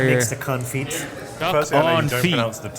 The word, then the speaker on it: confit: makes the confit? Duck Firstly, I know on you don't feet.